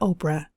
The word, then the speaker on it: Oprah: not happen by chance her real name was Orpah from the biblical book of ruth but the locals ended up pronouncing the name and evolved into Oprah she spent her early